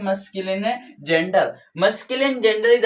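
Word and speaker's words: masculine: ये मस्कुलाइन है।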